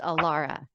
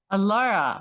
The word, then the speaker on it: Alara: live Nikki thank you so much and it's pronounced Alara Alara very yes thank you so much and as